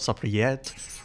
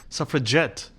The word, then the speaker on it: suffragette: Not suffragette, suffragette, with a hard G, because we want the vote and we're going to get it.